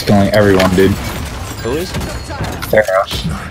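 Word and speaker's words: Pharah: Phara. It's pronounced Phara.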